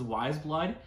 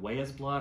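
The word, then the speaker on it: Weyes Blood: here's another cool one i'd probably mispronounce them in the past this is wise blood i i think i've called them way as blood or why is blood it's w-e-y-e-s very cool lettering um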